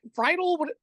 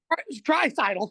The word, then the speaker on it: Draisaitl: McDavid, and I don't even know how to pronounce the other dude's last name. What is it? Friedel? What is it? Draisaitl? Draisaitl.